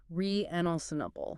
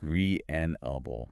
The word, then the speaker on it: reasonable: we're saying that correctly with reasonable the key is the stress the stress goes on the second syllable reenable reenable got it and the